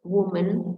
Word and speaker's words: woman: The woman go, woman dengan menggunakan a, bacanya woman, dia tunggal hanya satu.